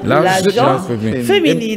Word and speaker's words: gente: Et donc, il faut dire l'agent féminine. Et parfois, il faut prononcer comme si c'était l'agent. L'agent féminine.